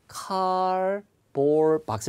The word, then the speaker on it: cardboard box: 카드보드가 아니라 cardboard box 일 때 발음. Cardboard box. 예, cardboard box. Cardboard box. 예, cardboard box. Cardboard box. 예, Cardboard box. 이 영국식 발음은 여러분 R 사운드가 잘 안 들리죠.